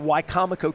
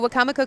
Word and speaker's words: Wicomico: Tell people in Baltimore about Wicomico County. Sure. So Wicomico County, you know, you were talking about being exhausted. I pronounce it wrong.